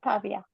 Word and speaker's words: Pavia: And Costanza Bosone, University of, I think you pronounce it Pavia, do you? Yeah.